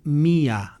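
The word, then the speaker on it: μία: neutro se dice en, y en femenino se dice mía, mía, y es la costumbre de, digamos, de acentuar ese, de volver aguda la palabra, que es donde pues decir, el acento disolvía el diptongo y pronunciaban mía, mía, significa el día 1 de la semana.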